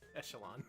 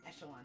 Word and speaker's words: echelon: Whitey has been around the longest, but never made it to the upper echelon. Echelon. Echelon, thank you. Echelon. It's probably spelled like that.